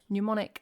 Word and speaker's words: mnemonic: Suck, Neo, Dumbo, Pull, Mnemonic, Psyche, Babe, Knee. We've got some weird letters like mnemonic, gnome. I've got silent letters at the front, so Psyche. And knee.